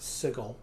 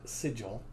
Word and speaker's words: Sigil: various things and yes apparently it is pronounced sickle not sigil it should be sigil